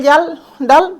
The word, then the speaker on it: Kjeldahl: হচ্ছে কি না জেল জাল ডাল পদ্ধতি দেখো এখানে জেলডাল পদ্ধতি মানে কি এই যে কে টা কে টা দেখো এখানে উচ্চারণ করা হয় না তো অনেক সময় তোমাদের